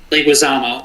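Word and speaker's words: Leguizamo: It's how the do you pronounce his name again? John Leguisamo. Leguisamo.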